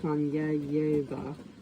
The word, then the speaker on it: Konyayevo: Sometimes I would go visiting to Konyayevo, pronounced Kanyayeva, like neighboring Studentsovo, a village in Vladimir Oblast, close to the eco-settlement under discussion.